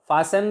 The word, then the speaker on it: fasten: Fasten the bolt. Fasten the nail. Listen. Listen. Listen to something. Listen to music. Listening to music. Ends in TEN. T is silent in all the words ending in TEN.